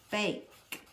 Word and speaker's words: bake: We put them in the oven to bake. Ooh, think about that word bake. Bake. I need something to make that A say its name.